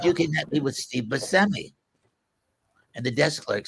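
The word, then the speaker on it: Buscemi: It's not Bushmi. It's pronounced BMI.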